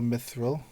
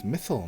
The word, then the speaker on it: mythal: Knights of the silver mithil oh they got the name wrong it's mythal not mithil shame uh and